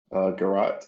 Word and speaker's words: garrote: Garrote is pronounced garrote.